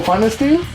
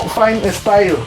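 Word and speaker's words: Pfannenstiel: una cesárea de tipo Fanesteel. Se escribe Fanesteel PH y doble N y la chingada. No Fine Style, como otra publicación que vimos en Facebook.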